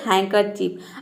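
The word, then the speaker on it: handkerchief: आपका हैंड तो देखिए यहां पे डी साइलेंट है हम डी को प्रोनाउंस नहीं करते हैं केवल इसको एच ए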